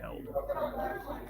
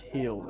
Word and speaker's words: Held: Tops for Dane Held. Healed. It's spelt held there, but it's pronounced healed, I believe.